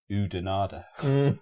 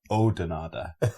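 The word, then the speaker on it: Oudenaarde: that just looks like udanada or you dinard right and we were going where's who denied and the people would die we got told off because it's pronounced odinada you don't pronounce the U so it's like a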